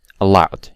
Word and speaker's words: allowed: The odd one out will be allowed, yes, because the other words are stressed on the first syllable, while allowed is obviously on the second syllable.